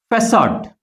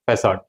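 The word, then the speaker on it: façade: But this word is derived from French. That is why here the sound is facade. The pronunciation of this word is facade.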